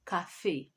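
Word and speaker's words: café: next one is coffee coffee in french is cafe cafe and with the article it will be do cafe do cafe some coffee is it masculine yes coffee is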